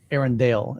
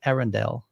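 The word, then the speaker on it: Arendal: or let me think Aaron Dale is how they pronounce it I even asked him I'm like Hey how do you there's like this debate on is it a Rendell and he was like it's actually Arendelle I went okay cool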